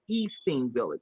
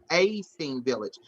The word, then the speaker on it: A-Steam Village: I always want to say E-Steam Village. So that's why I never say it, because I don't want to say it wrong. It's A-Steam Village.